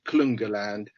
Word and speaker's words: Klungeland: I think it's supposed to be pronounced Klungerland, but for our purposes, this is Klungeland.